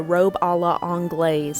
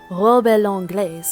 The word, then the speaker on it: robe à l'anglaise: to go with the robe a la anglaise. I didn't want to botch the French pronunciation of that, so I just said it as American as possible. But one second, let me try.